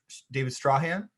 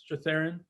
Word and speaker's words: Strathairn: And it was cool to get like David Strahan. Strathairn. No way. That's how you say it?